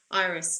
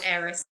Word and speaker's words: Eris: wobble, the Pluto squares Iris, doesn't it? Or Yes, Eris, however you like to pronounce it. Iris.